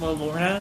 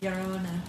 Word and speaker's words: Llorona: Isn't that just La Lorna? Did we take La Lorna? Llorona. Shut the fuck up. Llorona. I'm just saying, that's the pronunciation.